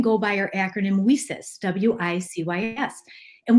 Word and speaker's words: WiCyS: We often go by our acronym WiCyS, W-I-C-Y-S, and we pronounce it WiCyS, like we sisters, because that's what we are.